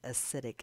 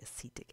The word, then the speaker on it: acetic: this is acetic acid a lot of people mispronounce this wouldn't say it's acidic acid and it's actually a seat ik acid I'm just a thought